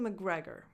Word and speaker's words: McGregor: So don't think about that C. It's just like McGre. So an M, a schwa, McGre, and a double G.